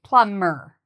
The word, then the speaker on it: plumber: One interesting thing to notice is the word plumber has a B, but we do not pronounce the B. So it's like it doesn't exist. We say plumber.